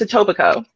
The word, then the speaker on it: Etobicoke: you pronounce it okay Etobicoke there it is you will whale like that's how it's spelled but it's Etobicoke yeah yeah I almost